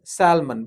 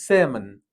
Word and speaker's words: salmon: Usually they pronounce it as salmon, but it's salmon.